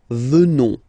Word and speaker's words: venons: ONS, remember, classic ending for nous at the present form, final S not pronounced, so you will get the sound venons, nous venons, nous venons.